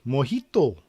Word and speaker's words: mojito: which country is the origin of the cocktail mojito that's how you pronounce it uh which country is the origin